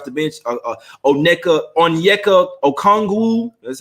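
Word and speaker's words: Onyeka Okongwu: hill galinario off the bench uh oh neca onyeka okongw that's how you say his name one through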